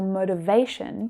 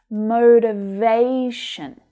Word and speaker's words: motivation: So words that end in T-I-O-N like this one are usually stressed on the syllable before last. So it's motivation.